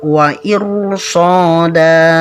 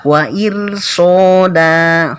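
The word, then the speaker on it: إرصادا: Jadi caranya membaca wa irsada, ya bukan wa irsoda tapi wa iru.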